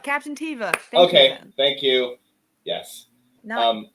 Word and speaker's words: Teva: think the big bad for this show is Teva Captain tiva okay thank you yes um not John I